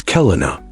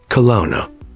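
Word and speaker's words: Kelowna: Pronunciation is key. It's Kelina, not Kona.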